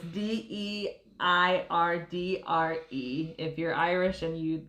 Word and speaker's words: Deirdre: I'm probably butchering the pronunciation, but it was the Le Deirdre. So it's Deirdre.